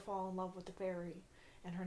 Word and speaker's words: Feyre: i'm like is it fairy is it fairy is it feyre how do you say this name it's feyre i kind of groaned